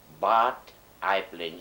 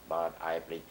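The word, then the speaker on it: Bad Aibling: that was in what i blinked bavaria germany bart i plain it is spelled b a d dash a i b l i n g but i bring it's somewhere in the rosenheim which is not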